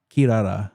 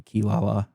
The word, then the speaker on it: Kirara: Well, it's Kirara, so in English it just got localized to Kilala.